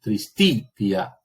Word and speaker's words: tristitia: Entonces, si esa I es breve, el acento recae sobre la sílaba anterior. Entonces yo leo tristitia.